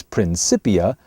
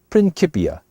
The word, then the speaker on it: Principia: Although you might hear it mispronounced sometimes as Principia, the true pronunciation really is Principia.